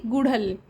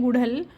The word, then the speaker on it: गुड़हल: Hibiscus यानी कि गुड़हल। तो जो सही उच्चारण है इस वर्ड का वो होता है गुड़हल और बहुत से लोग इसको गुडहैल गुहूल गुडहोल इस तरीके से नाम लेते हैं।